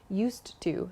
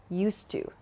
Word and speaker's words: used to: not used to but native speakers connect the D and the T sound at the end of used and to so it's not used to but used to used to there's just one sound there used to so think